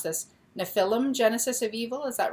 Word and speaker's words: Nephilim: powerful Storyteller her book and I might pronounce mispronounce this nefilim Genesis of evil is that right it's Nephilim Nephilim Nephilim Genesis of evil has been compared to